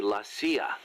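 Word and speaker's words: la CIA: around here they say lasya instead of CIA huh yeah nothing strange about it that's how it's pronounced when you read it in Spanish it has the feminine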